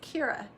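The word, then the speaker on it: Chiara: So Petra has designed the C-H-I-A-R-A, pronounced Kira, wrap or vest.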